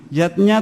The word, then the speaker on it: yajna: artinya lima macam selamatan yatnya tulisannya yajna Ayah Bunda tapi membacanya yatnya yang pertama adalah dewayatnya